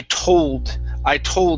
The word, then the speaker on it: told: Now here, make sure to pronounce that D here. So I told myself.